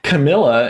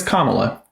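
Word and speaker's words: Kamala: don't know basic literacy her name is comma say it right it's simple okay now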